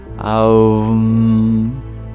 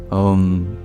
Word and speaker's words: Om: Instead of going wham, we go aum, which of course is the mantra. Om. Om. These are the bija syllables to open each chakra.